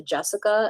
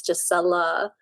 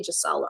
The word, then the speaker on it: Gisela: Gisela turned into Jessica, and I was always like, there's an L there. How are you getting the K part? Like, it's Jissela. But there were some teachers, that did pronounce it right because they saw the spelling. But yeah, I would also very politely be like, it's actually Jissela.